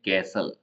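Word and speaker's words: castle: अलग लिख रही है इसको बोलते हैं कैसल कैसल में T silent C एल आई एम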